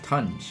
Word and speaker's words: Tung: I think it's pronounced tunge. It is. It's tunge? Like sponge? It's spelled the same way.